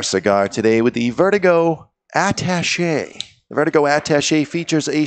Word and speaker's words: attaché: Attaché? Is that how you pronounce it, really? With the at being attaché. Attaché? It's not attachy, as some people say, yeah.